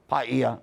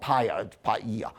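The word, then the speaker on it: Pāʻia: notes are known from payia that by the way is correct but they're paying a lot of attention in hawaii now to the global stop and pronounce so it's not paya and uh but ten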